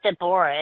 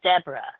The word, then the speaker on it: D'vorah: It's not Dborah. It's Deborah. Deborah. That's how pronounced in my life.